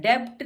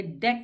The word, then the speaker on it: debt: डेट, ये DEBT होता है, डेब्ट नहीं होता, ये डेट बोलते हैं अब इसको, क्योंकि इसमें भी B साइलेंट हो जाता है, T से पहले है।